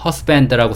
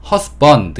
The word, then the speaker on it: husband: 있죠 허스밴드라고 써 있는데 허스밴드라고 하셔도 되고 발음 기호를 보면 허스번드 이렇게 어발음으로 되어 있는 발음기호가 있어요 그래서 뭐 허스번드라고 하시는 분들도 있고 허스밴드라고 하시는 분들도 있는데 뭐 어떻게 발음하셔도 크게 상관없습니다 그냥 편하신 대로 발음하시면